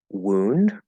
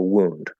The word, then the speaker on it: wound: bleeding I have a wound um and that is pronounced ooh so it's the W goes straight into the u vowel sound so it's like like